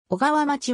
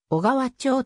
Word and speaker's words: 小川町: とされた小川町は誤読であり正しくは小川町と読む 2018 年 1 月